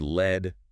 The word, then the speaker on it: lead: And pronounced led rhyming with bed.